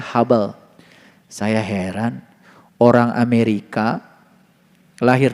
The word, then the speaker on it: Hubble: Ditulisnya huble. H U B L E. Huble. Dibacanya Hubble.